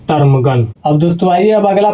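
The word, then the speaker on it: ptarmigan: तो यहां पर दोस्तों पी को हम लोग साइलेंट करके पढ़ेंगे इसको पढ़ते वक्त तो इसको पढ़ेंगे दोस्तों टर्मगन।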